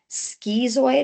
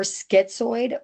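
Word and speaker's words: schizoid: include paranoid personality disorder, skezoid or skitsoid personality disorder and schizotiple or sky uh oh my goodness skezotiple personality disorder. You'll hear them pronounced both ways depending on the region where someone's from.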